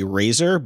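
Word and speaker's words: RAISR: uh I think that I think the pronunciation would be Razer but it's r a s i r rapid and accurate super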